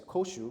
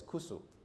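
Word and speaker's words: 古酒: know koshu right so rather than pronouncing as koshu you pronounce it you pronounce it as kusu so it's just basically a dialect okay yeah so it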